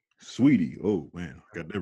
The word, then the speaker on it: Saweetie: Saweetie.